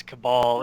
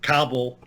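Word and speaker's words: Kabal: He can get those right, but can't pronounce Cabal equally on correctly on a consistent basis. He's got me calling it Cobble.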